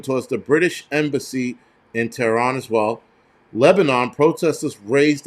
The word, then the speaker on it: Tehran: Hundreds of protesters have reached outside of French UK embassies in Tehran, or Tehran, if you want to say it right.